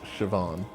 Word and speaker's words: Siobhan: Oh, Siobhan. Siobhan. It's pronounced Siobhan.